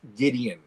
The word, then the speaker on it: Gwydion: I like, when I hear Gwydion, all I wanted to hear was Gideon. And I'm like, why aren't you saying it right?